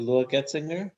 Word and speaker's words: Getzinger: When he met in the boat, he met was it Lua Getzinger, or am I saying it wrong?